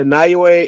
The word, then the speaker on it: Naoya: Nagwa. I keep forgetting how to pronounce his first name. The Japanese guy. He's talking about Naya. It's a Naoya Inoue.